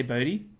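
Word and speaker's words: Boddy: The way you're pronouncing it is totally fine, but I do think it's funny that like he's called Mr. Body. Oh, and I say Bodie.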